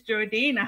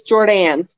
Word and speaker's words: Jordanne: say welcome to Miss Jordina. How are you doing? Hello, I'm good. I'm good. I'm doing fantastic. Awesome. Am I pronouncing your name correctly? It's Jordan. Jordan.